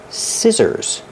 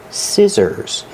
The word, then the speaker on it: scissors: are children's scissors pronunciation scissors you short ear like this is scissors the SC makes the sound with no voice and the two s's in the middle make a zebra sound the sound is scissors